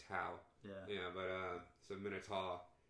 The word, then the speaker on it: tau: My fraternity, we pronounce it Taw, even though it's usually Tau.